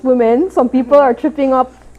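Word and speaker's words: womxn: the the x um it still pronounced women some people are tripping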